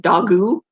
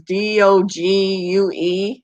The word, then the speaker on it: Dogue: And at first I didn't know how to pronounce it, and it just looks like Dogu. It was Dogue.